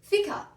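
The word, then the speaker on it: fika: traditionally happened twice daily FICA it's just coffee with the syllables switched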